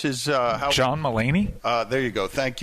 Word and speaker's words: John Mulaney: Don leard who is the comedian is it James mulany how do you pronounce his uh John malany uh there you go thank you John meany